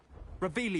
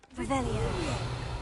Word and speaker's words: Revelio: Revelius! You're saying it wrong! Ugh. Revelio. Much better.